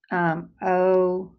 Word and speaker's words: ogive: A cumulative frequency graph is also called an ogive. So that's pronounced ogive.